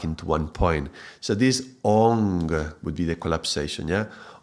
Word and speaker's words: Ong: Ong. Ong, without closing of the lips and with this little G at the very end.